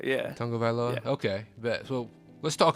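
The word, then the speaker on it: Tagovailoa: nailed down the the the beginning is like tongue supposed to be pronounced Tong of vioa yeah Tong OFA okay bet so let's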